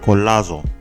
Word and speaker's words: Colazo: I think that's how you say it, Colazo. You have to say it with the accent, bring out the Latin.